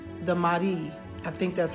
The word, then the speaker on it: Mahdi: It's not Mahadi, it's the Mahdi.